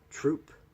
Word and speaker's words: Throop: readiness command that's rear Admirals troop and it's spelled Throop but it's troop and then deputy commandant